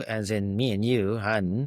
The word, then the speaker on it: Johan: Han, as in honey, I shrunk the kids.